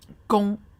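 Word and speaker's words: 弓: And it also helps because this character is pronounced gong, and then this also is pronounced gong, so it has that phonetic property.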